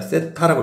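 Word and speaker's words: θ: 탄젠트 세타.요 기호를 요렇게 참고로 요렇게 하고 요렇게 생긴 걸 요걸 읽을 때는 각의 대표적인 미지수야. 세타라고 읽는다고. 세타. 이렇게 알겠지?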